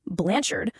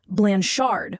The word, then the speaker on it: Blanchard: It had to be pronounced blanchard with emphasis on the second syllable. God forbid you said blanchard.